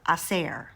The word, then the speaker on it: hacer: We need to talk about the verb hacer. Hacer. Just for fun, let's spell it.